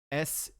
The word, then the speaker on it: chute: My toe, SHOOT, and then shoot as in like an open tunnel is CHUTE. Okay. But you pronounce it the same way, right? Yes.